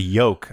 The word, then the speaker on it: yolk: So do you pronounce the L in egg yolk? Yeah, absolutely. Yolk. Of course. Yeah. Yolk with a little O in there, yolk. Sure, yeah. As opposed to yoke, like a Yolk.